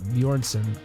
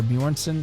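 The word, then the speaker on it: Björnsson: actor half worth or bjornsen i think it's how you say it best known for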